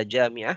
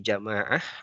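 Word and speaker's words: جامعة: baik ini memang kadang suka ada yang keliru membaca Jami'ah menjadi jamaah Apa perbedaan membacanya Kalau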